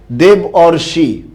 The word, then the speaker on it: দেবর্ষি: দেবর্ষির মধ্যে এক আছে না দুই আছে? দেব অর্ষি। অনেকে পেরে ফেলছে দেখছো? দেব অর্ষি, অর আছে।